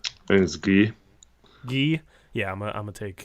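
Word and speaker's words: Gueye: do you say his last name that is ghee ghee yeah I'm gonna take him Washington State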